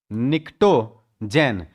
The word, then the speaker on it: Pnictogen: का नाम है निक्टोन निकटो जन यहां पर पी साइलेंट है यहां पर पी क्या है यहां पर पी साइलेंट है नाम है निकटो जन इसमें आता है नाइट्रोजन